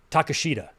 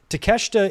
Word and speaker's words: Takeshita: And I forgot how Okada pronounces his name. Takeshita. I think he calls him Takeshita.